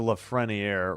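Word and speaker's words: Lafrenière: Schneider, Paneran, Lefreniier. Yeah, it's a Lefreniier.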